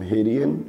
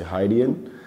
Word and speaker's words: Hydeon: I publish my art under this name Hydeon, or you can say Hydeon. It's either pronunciation is fine.